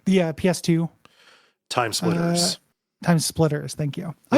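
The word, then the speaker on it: TimeSplitters: That feels a little bit like Time Killer or Time Spinners. A little bit or whatever that game is. I don't know what that is. Time Crane. What? I'm saying it wrong. The PS2. Time Splitters.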